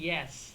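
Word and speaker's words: yeah: যেমন ইয়েসকেও তারা ইয়া বলে, কিন্তু সেই ইয়াটা হচ্ছে ওয়াই ই এ এইচ, সেই ইয়েসটাকে বলে তারা ইয়া বলে, কিন্তু এটার যদি বানান করে লিখে তাহলে সেটা হবে ওয়াই ই এ এইচ, ইয়া।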